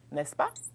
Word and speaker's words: n'est-ce pas: Donc, exemple, tu parles français, n'est-ce pas?